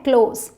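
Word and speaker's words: close: तो जब आप कोई चीज़ बंद करते हैं एज अ वर्ब यूज़ कर रहे हैं क्लोज, तब आप क्लोज बोलेंगे. लेकिन जब करीबी, जैसे रिश्तेदार, दोस्त, करीबी की बात कर रहे हैं, तब इसकी प्रोनाउंसिएशन है क्लोज. ठीक है, चलिए.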